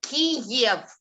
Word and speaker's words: Kiev: So I call it Kiev in Russian pronunciation.